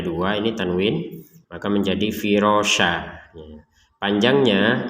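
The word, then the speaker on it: فِرَاشًا: sini tanwin ya fathatain tulisannya itu firosyan tapi barusan kita bacanya firosya nah ini namanya Mad Iwat jadi Mad Iwat ini adalah tanwin fathatain ini yang karena kita wakaf sehingga ini dibaca dengan ee menjadi firosya menjadi yang di sini harakatnya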